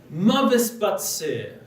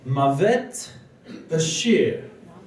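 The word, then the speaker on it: מות בשיר: It actually means Mavet Bashir. Death is in the song. He pronounced it Batsir because, being a Litvak, he couldn't pronounce the letter Shin, and they always pronounce it as a sin.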